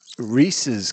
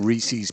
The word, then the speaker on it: Reese's: HB Rhys HB Rhys so I guess it's really Reese's Cups yep to rhyme with pieces although you hear people saying Reese's pcs or whatever day saying